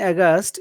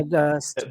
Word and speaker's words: aghast: aghast, a sound in aghast is schwa or the relaxed sound? Schwa, you mean Aghast. the part? Yes, yes. Aghast. It Apart. is. It Yeah, is. It is. It is a schwa sound.